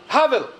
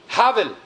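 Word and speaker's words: הבל: En el hebreo se pronuncia Havel. Havel.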